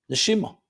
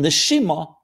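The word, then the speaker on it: נשימה: Neshima. It's connected. Neshama, soul. Neshima, same letters but pronounced differently, is breath.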